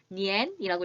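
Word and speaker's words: 年: 읽기만 기억해 주시면 돼요 읽어 볼게요 아니죠 니엔이라고 읽으셔야 합니다 1학년 아니 만나면 아는 n이라고 소리가 내셔야 합니다 그래서 니안이 아니란 여러분들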